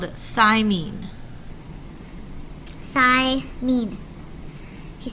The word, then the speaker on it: thymine: They all end in the sound "een," like mean thigh.